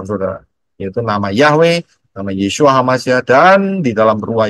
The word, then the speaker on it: Yeshua: pintu keselamatan yaitu melalui y Shin wau Ayin bacanya yesua karena siapa berseru e